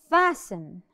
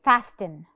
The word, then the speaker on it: fasten: with l e now fasten fasten I hear a lot of people say it fasten no the t is silent we don't say fasten